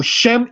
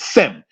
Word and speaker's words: Shem: The Greek way of saying the Hebrew Shem is Sem, because in Greek phonetics there is no SH syllable like the sh in Hebrew where you get shalom and so forth and so on.